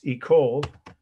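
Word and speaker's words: école: and spell it yes e cold that's e c o l e if you want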